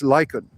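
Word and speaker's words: lichen: old man's beard some Lykan uh the pronunciation is lyen okay um thank you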